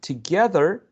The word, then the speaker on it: together: Together, we have two schwas, one at the beginning and one at the end. Together, the. And the stressed syllable is the syllable in the middle, ge.